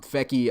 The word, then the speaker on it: Feckey: with brandon feckey and he told me that's how you say it as a fecky we would say in fact but um fecky is how you say it and um feki um you know a